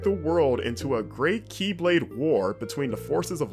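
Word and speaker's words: χ-blade: so it's not like X X but it's pronounced Keyblade it's confusing don't worry about I'm just letting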